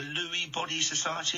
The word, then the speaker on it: Lewy Body Society: Something called the Lewy Body Society. Is that the right way to pronounce it?